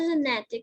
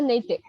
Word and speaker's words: Naitik: Ma'am, my name spelling is Naitik, but ma'am, actually we pronounce it as Natik. We don't, one I is silent there. Okay, okay. So Nitik, is it?